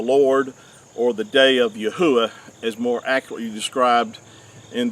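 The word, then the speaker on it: Yahweh: that the name of the creator which is Yahwh which is which is the correct way to pronounce the four Hebrew letters of our creator's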